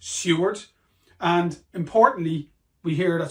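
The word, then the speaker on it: Siward: man and is pronounced Seward so it's it's spelled s i w a r d but it's pronounced Seward and importantly we hear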